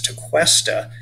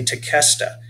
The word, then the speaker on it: Tequesta: Some of us refer to the name Tequesta as Tequesta, but that's an incorrect pronunciation. We want to say Tequesta. They were Native American people that were named by the Spanish, and the sound that is made by the QE is a K sound, it's Tequesta.